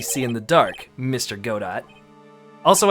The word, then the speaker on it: Godot: Godot. Also, I know his name is pronounced Godot, I just pronounce it Godot because I like it better that way.